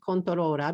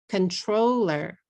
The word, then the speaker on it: controller: Now I understand controla because I live in Japan.